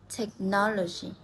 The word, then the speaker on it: technology: So, words ending in this. We stress in the second last syllable. I have some example.